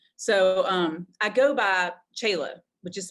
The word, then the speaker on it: Chela: to jail name so um i go by chayla which is spelled c-h-e-l-a um otherwise and the last name